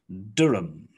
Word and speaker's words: Durham: tottenham and the last one on the list durham durham okay round four let's have a look